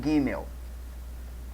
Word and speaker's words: gimel: terceira letra é o gimel certo essa letra aí chamada de gimel ou gimel pronuncia-se gêmeo certo e tem um som de G como no caso nós pronunciamos a palavra garota tem um som de